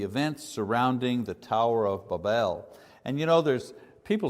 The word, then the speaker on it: Babel: it you know and the phonetics say the pronunciation should be b a w b l so Babel Babel makes no difference we